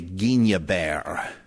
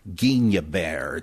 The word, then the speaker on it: Guignebert: Now, how the heck would you say that? I must admit, I called up a French teacher and asked her, you'd say Guignebert. Sounds now, like some kind of fancy cheese, but Guignebert, G-U-I-G-N-E-B-E-R-T.